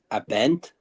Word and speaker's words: Abend: But you still got to pronounce the A in guten. Abent. Gabend.